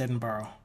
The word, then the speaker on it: Edinburgh: oh borrow edin borrow so it is actually pronounced edin borrow maybe that's the same place that I'm thinking